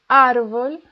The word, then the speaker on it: árbol: El árbol, the stress is in AR, árbol, tiene hojas rosas.